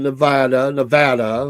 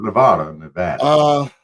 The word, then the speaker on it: Nevada: They live in Nevada. We got to make sure we say it right. Not Nevada.